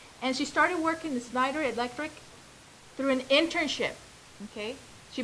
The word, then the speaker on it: Schneider Electric: How do you pronounce that? Schneider Electric.